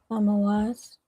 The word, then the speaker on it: Tammuz: In Hebrew, how would we say that? Thamawaz. Thamawaz, right?